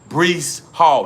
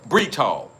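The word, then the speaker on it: Breece Hall: My number five guy is going to be Bree Hall. Not not uh Breach Hall. Breach Hall. Listen, I'm trying to say his name correct. Breach Hall. Not Bree, but Breach Hall.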